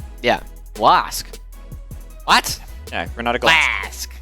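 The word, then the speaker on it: Glasc: Yeah, Renata Glask. I do not like Glask. Well, that's too bad. That's how you say it.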